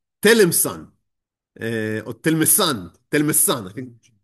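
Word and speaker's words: Tlemcen: look at it and that it's something like Telemsan or Telmesan, I think. Telemsen. Okay, so Telemsen, thank you.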